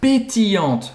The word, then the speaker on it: pétillante: Une bouteille d'eau minérale pétillante, com gás. Pétillante, pétillante. Aqui de novo a gente tem o LL que faz esse I longo, né? Pétillante. E a pronúncia aqui vai acabar no T, novamente, pétillante.